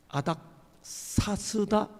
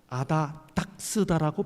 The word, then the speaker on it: 아닥사스다: 때 결정적인 실수를 합니다 아닥사스다 왕을 계속 이분이 뭐라고 발음하는거 하면 아다닥 스라고 발음합니다 제가 뒤에 앉아서 아닥사스다